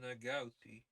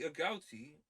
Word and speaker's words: agouti: am aware most people, myself included, uh wildly mispronounce. What's an an agouti? Oh, the agouti or agouti.